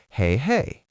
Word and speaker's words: hei hei: Teacher: Or Hei hei. Mnemonic: "Hey hey, I'm away!"